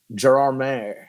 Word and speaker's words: Gérardmer: We went to Gérardmer, is how it's pronounced, in the French Alps, which was an amazing festival.